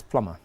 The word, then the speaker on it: plumber: The B is silent in that word. Plumber? It's plumber.